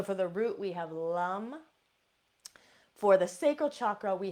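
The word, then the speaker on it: lam: The seed sound for the root chakra is lum. Now, it is spelled L-A-M, but in the Sanskrit language, A is pronounced Okay, so this is going to be lum.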